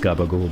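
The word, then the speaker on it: capicola: It's Italian dish called capicoli, but it gets pronounced as gabagool by Italians. I'm pretty sure that's what's going on there.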